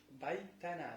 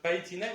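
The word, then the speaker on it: بَيْتَنَا: Неправильно сказать байтина, неправильно говорить байтуна.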